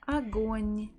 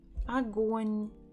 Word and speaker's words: огонь: The first letter, the first O, is not stressed, so we will pronounce it as a, g, o, н. Огонь, огонь, огонь.